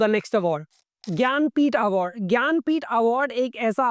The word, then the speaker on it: ज्ञानपीठ: ज्ञानपीठ award एक ऐसा award है कि सबसे पहले आपका यह कंफ्यूजन होगा कि इसका जो स्पेलिंग है वो ज्ञानपीठ नहीं है। जनानपीठ के जैसा आपको लगेगा पढ़ने में क्योंकि जे से स्टार्ट होता है।